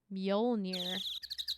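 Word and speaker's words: Mjölnir: probably keep it on right now oh it's pronounced mjolnir the fool oh my god scout an overhead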